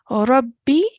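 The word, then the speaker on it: رَبِّ: Rabbi zidni ilma. Rabbi zidni ilma. Good. Make sure you don't stretch for the B sound, okay? We're not stretching. We are only going to pronounce it for one count.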